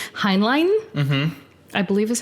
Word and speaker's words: Heinlein: Heinlein, I believe is how you say it, who is basically an author of like choice science books in that era.